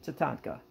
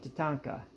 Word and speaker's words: tatanka: say uh look at definition titanka now i'm pronouncing that wrong i am and i realize that but you look up definition of tatanka you'll see buffalo but